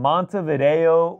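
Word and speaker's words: Montevideo: Shout out as always from Mont Vido Uruguay. Yes. Am I pronouncing that correctly?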